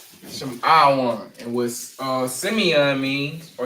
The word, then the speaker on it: Lashawan: And we pronounce them as Lashawan. Lashawan.